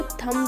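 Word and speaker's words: thumb: थंब को थंब नहीं बोलते, थंब बोलते हैं, क्योंकि बी साइलेंट होता है।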